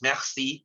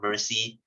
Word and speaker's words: merci: Okay, so guys, it's merci, it's not mercy. Okay, it's meg. Okay, the R is pronounced as egg.